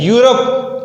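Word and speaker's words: Europe: यूरोप ई है, ई हमारे पास vowel में मौजूद है, लेकिन यूरोप की जो प्रोनाउंसिएशन है या साउंड है यू से शुरू हो रहा है, ये भी हमारे पास क्या है?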